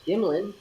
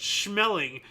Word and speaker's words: Schmeling: Now, his last name is, I believe, pronounced Schmeling.